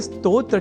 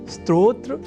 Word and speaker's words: स्तोत्र: अर्थात स्तोत्र में अर्ध सकार के बाद त और ओ इन दो अक्षरों का संयोग है। और इसके बाद त्र इस संयुक्त अक्षर का। यदि हम यह ध्यान में रख लें तो कभी भी स्तोत्र के स्थान पर स्त्रोत्र या स्त्रोत जैसे उच्चारण या लेखन हमारे प्रयोग में ही नहीं रह सकेंगे।